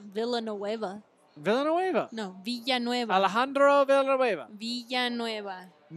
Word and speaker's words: Villanueva: He's Villanueva. Andre Villanueva. Yes. Oh, Alejandro Villanueva. Yes. Alejandro Villanueva, 2-yard touchdown reception. Can you not say it that way? It's Villanueva, not Villanueva.